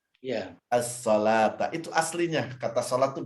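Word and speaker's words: الصلاة: Nah, penulisan aslinya as-shalah seperti di Al-Baqarah ayat 3 tuh pakai waw, padahal dibacanya alif dia kan? Iya. As-shalata itu aslinya, kata salat tuh begitu.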